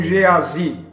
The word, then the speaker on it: Geazi: Alguns pronunciam Geazi, eu fico com Geazi.